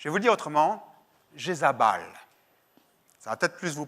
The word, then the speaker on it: Jézabel: Qu'est-ce que ça signifie Jézabel? Je vais vous le dire autrement, Jézabal.